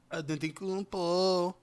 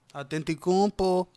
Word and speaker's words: Antetokounmpo: the MVP of the league this year, Giannis Antetokounmpo. Say his name. Antetokounmpo.